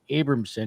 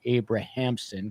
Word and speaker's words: Abramson: original attorney is Leslie Abramson he kept calling her abrahamson because she spells it with h unless you changed the pronun pronunciation of her name but um Joe uh